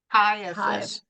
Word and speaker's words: Caiaphas: high priest, whose name was, how do you pronounce that? Caiaphas.